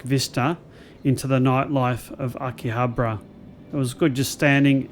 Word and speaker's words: Akihabara: I can never pronounce these things. Akihabara. Akihabara.